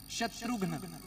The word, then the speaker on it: शत्रुघ्न: हाँ, शत्रुघ्न नहीं, शत्रुघ्न, घ आधा है, शुद्ध उच्चारण करना है। असि शत्रुघ्न नहीं बुलाना तो फिर वो हीरो ही आना दूजा। देखो शब्द अगर हमने पुट्ठा सीधा बोल दिया तो उसका फल भी हमें वैसा ही मिलेगा, इसलिए उच्चारण अच्छा करना है। घ आधा है तो शत्रुघ्न क्या है?